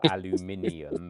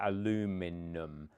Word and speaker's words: aluminium: yeah, you guys are so dumb that you couldn't handle aluminium because you'd have to actually like move your lips and pronounce more than one phoneme. So you simplified it to aluminum, which was preschool level pronunciation.